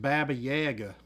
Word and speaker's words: Baba Yaga: Her name's definitely pronounced Baba Yaga.